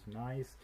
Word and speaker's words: gneiss: So this is pronounced as gneiss.